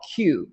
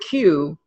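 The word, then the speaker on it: Quuu: And then there's another company called Q, which is spelled Q-U-U-U, and they're an aggregator of online articles.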